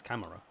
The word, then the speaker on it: Camara: I've been saying Kamara, but he says Camera. So maybe I'm wrong.